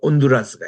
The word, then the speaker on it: 온두라스: 쪽에 보면은 아 저 남동 쪽에 보면은 이게 온두라스가 있습니다 우리가 발음할 때는 발음을 안 해요 그냥 온두라스 아고